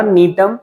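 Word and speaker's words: Gnetum: Ephedra, नीटम जी silent होता है एंड व्वसिया।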